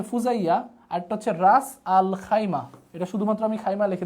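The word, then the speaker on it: خيمة: আল খাইয়াম বা খাইমা এটাকে আমরা শুধুমাত্র খাইমা উচ্চারণটা বলতে পারেন খাইমা খাইমা তাহলে একটা হচ্ছে ফুজাইয়া একটা হচ্ছে খাইমা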